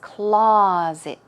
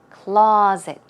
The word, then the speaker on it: closet: It's closet, closet. Okay, stress goes on the first syllable, and it's more of a z sound.